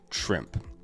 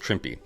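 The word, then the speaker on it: Trimpe: reason I bought this book, uh, is Herb Trimp is the artist. Uh, Trippy, actually, his name is is is actually pronounced Trippy.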